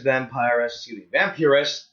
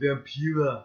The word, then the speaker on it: Vampira: Rather than seeking the old juggler, this vampiress, you said it wrong, it's vampira.